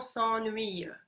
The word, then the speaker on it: s'ennuie: Oui, mais toutes selon s'ennuie.